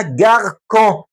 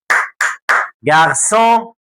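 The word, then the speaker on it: garçon: عشان تجيب النطق بتاعها السون ديت لازم تحط السي دي اللي هي اس صغيره في دي السي، حطها هنا كده. اصبحت بدل ما هتبقى جاركون كلمه وحشه، اصبح اسمها جارسون.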